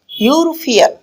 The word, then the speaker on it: European: দেখো এখানে যে ওয়ার্ডের প্রথম লেটারটা ছিল ই, বাট এটার প্রোনাউন্সিয়েশনটা হয়ে গিয়েছে কি এখানে ই এর সাথে ইউ বসে ইউ। দ্যাট মিন এই সাউন্ডটা হয়ে গেল কি কনসোনেন্ট ইউ। ভাওয়েল দিয়ে শুরু হওয়া সত্ত্বেও সাউন্ডটা ছিল কি কনসোনেন্ট।